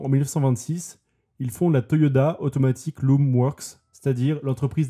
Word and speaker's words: Toyoda: avez remarqué peut-être que je disais Toyoda et pas Toyota c'est norm mal la famille s'appelle bien Toyoda mais Toyota étant plus facile à prononcer bien ils ont tout simplement changé leur nom de famille pour des raisons marketing en tout cas les